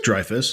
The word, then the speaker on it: Dreyfuss: It stars Richard Dreyfuss. Or Dreyfuss? How do you guys pronounce it? It's like Dreyfuss.